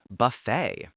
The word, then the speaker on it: buffet: In English, we absolutely skip the T in this word too. It's pronounced buffet. It rhymes perfectly with the word say or way. You need to make sure you stress the second syllable, the fay.